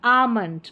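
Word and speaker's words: almond: काम पाम Simon और यह है बाम यह है आमंड क्या है आमंड तो इस तरीके से इसको प्रोनाउंस करना है एल एम को म करके प्रोनाउंस करेंगे नंबर 35 पर है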